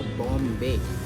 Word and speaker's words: Bom: Church का नाम है पुर्तगाली भाषा में बॉम जीसस। इंग्लिश में इसका स्पेलिंग इस तरह होता है BOM।